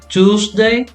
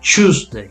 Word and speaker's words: Tuesday: tuesday just okay actually american people they say tuesday british people say tuesday it's a little bit different so it's up to